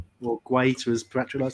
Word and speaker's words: Guaita: man of the match quiter or greater as part of to say i'll be different creature quieter i swear he pronounces it quieter himself i know i know